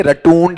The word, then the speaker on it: rotund: क्या है, रोटंड। सिंपल ही है, घुमाना नहीं है, रटूंड ऐसा कुछ भी नहीं है।